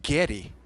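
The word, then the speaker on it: Geddy: name he would say Getty Getty Daddy no like g a r y but g e d d y like Getty Dy so when I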